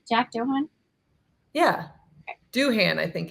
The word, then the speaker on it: Doohan: It's Doohan. We're glad to have you at Alpine. Shannon has an unrivaled run of not mispronouncing things.